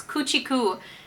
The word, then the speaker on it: Kuchiku: I now know how to pronounce the brand name and I did not say right. It's Kuchiku.